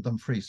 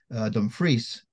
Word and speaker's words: Dumfries: syllable of words, whereas the Scots emphasize most normally the second syllable. So we've got our Bigland. I'm brought up in Dumfries. I was born in Dumfries. Dumfries, Kirkbean, you know, second syllable for the Scots.